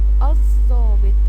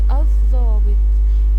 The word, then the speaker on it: الضابط: لام قمريه شاطرين طيب الضابط الضابط ها نطقنا ولا ما نطقنا ما نطقنا يبقى دي ل ايه لام شمسيه طيب عايزين قبل